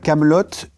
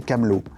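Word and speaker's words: Kaamelott: Mais je me on s'est rendu compte en fait que beaucoup de gens disaient Camelot. Les deux T de la fin de Camelotte sont juste là pour empêcher les gens de le prononcer Camelot.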